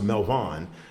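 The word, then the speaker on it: Melvoin: It's pronounced Melvin.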